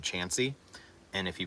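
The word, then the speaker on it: Chauncey: there's also a little town outside Athens called chansy and if you pronounce it Shanty we know you're not from there um but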